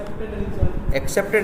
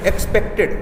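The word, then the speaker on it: expected: एक्सेप्टेड नहीं, एक्सपेक्टेड। देखो accept है, एक्सपेक्ट, दो वर्ड बार बार मिलेंगे, इसलिए इनका प्रोनाउंसिएशन जो है वो सही कर लेना।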